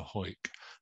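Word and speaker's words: Hawick: wounded only over 17 is many belong to hoik that's how you pronounce it and that is actually there in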